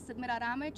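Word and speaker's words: Sadmir Aramic: Uh my name is Sid Aameich. It's spelled S A D M I R A R A M I C.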